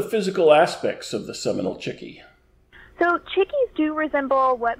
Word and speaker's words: chickee: what is a cheeky and how do we pronounce it right well actually um chicky is appropriate um although in the mikusuki language